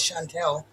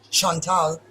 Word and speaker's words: Chantel: My first name is Chantel, and the Germans pronounce it in a French, Chantal.